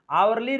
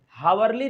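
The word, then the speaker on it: hourly: आवरली report, हावरली report नहीं होता है, एच को साइलेंट करना है, आवरली रिपोर्ट है।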